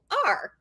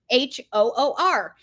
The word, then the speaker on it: hoor: So I went on and I Googled Hoor. It is the way you say whore in Ireland.